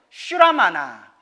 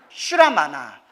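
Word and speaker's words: श्रमण: 문이라고 불러요 따라 사문 사문은 산스크리트어로 따라해 보세요 슈라마나 슈라마나 한자로 문이라고 해요 슈라마나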